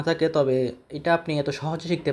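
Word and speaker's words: ت: এখানে আমরা যখন তা উচ্চারণ করি তখন আমরা কোন বাতাস নির্গত হয় না। কিন্তু আরবি ভাষা বা কোরআন তেলাওয়াতের ক্ষেত্রে আমরা যখন তা উচ্চারণ করব তখন আমাদের হালকা একটু বাতাস নির্গত হবে।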